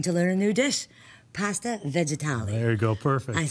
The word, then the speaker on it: pasta vegetali: today I'm here with Michael DiPaolo, and I am excited to say I'm going to learn a new dish, pasta vegetali.